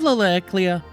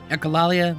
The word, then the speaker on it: echolalia: Aya, do you have Laleklia? Yeah, I can't pronounce that word. Echolalia, that's it.